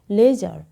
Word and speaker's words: leisure: অথচ উচ্চারণ হচ্ছে লেজার। আরটাও কিন্তু খুব স্লোলি উচ্চারিত হচ্ছে।